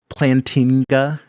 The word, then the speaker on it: Plantinga: a christian evolution so uh i like alvin plantiga you if you want to like compare my theology to someone's what how do you pronounce his name plantinga his last name is kind of weird it's